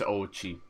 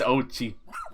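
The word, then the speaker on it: Oatchi: very young age there's Ochi how would you pronounce that oh it's like oat and then Chi I was calling them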